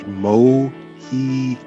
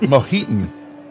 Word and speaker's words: Mojito: That's pronounced Mojito. Yes, not Mohitan, as I keep wanting to mix Mojito and Latin together.